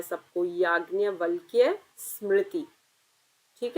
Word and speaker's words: याज्ञवल्क्य: अब हम पढ़ेंगे याज्ञवल्क्य स्मृति। नाम सही से प्रोनाउंस करना है सबको। याज्ञवल्क्य स्मृति।